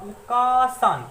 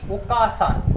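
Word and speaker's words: お母さん: तो देखिए ये जो प्रोनाउंसिएशन है इसका प्रोनाउंसिएशन होगा ओकासान, ना कि ओकासान।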